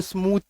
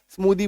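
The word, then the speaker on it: smoothie: किया गया है स्मूदी इसको स्मूथ नहीं बोल सकते स्मूदी बोलेंगे रीजन क्या है ना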